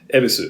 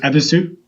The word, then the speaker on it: Ebisu: How do you pronounce that? Ebisu. Ebisu?